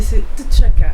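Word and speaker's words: T'Chaka: Euh, c'est chaka. C'est chaka. Mais il y avait un il y avait autre chose avant. Si si je peux me permettre la prononciation avec ça, c'est Tchaka.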